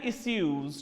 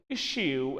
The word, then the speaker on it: issue: overcome they have many issues to resolve my dear friends you can pronounce it as issue as well as issue both correct so when we talk